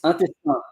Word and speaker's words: intestin: But in Oh, French, and it's intestin. Intestin. intestin. Is Voilà, there an exact. uh, is there an N there? Is it intestin or do you not hit the N? No, there is no N pronounced.